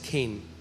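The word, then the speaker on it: חֵן: है वह है केन सी एच ई एन बट it's pronounce S केन और जब मैं इस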